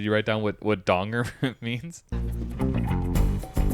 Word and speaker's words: Donger: Did you write down what what donger means? Are you Danger? Jack Danger. It's actually pronounced Donger.